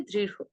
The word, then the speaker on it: দৃঢ়: দৃঢ়কে এতদিন আমি দৃঢ় উচ্চারণ করে এসেছি, জি, বেশিরভাগ ক্ষেত্রে এই ভুলটা আমরা করে থাকি। এর উচ্চারণ আসলে হবে দৃঢ়, দৃঢ় মনোবল।